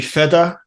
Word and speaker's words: Fetta: I have the pleasure to have uh feta with me I hope I'm pronouncing your name right yeah that's correct great